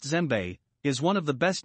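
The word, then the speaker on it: djembe: pitches six gem the west african gem pronounced zembe is one of the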